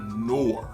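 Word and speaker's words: Noor: Amber fragrance this is we have no I believe is the prononciation nor n o o r got this for still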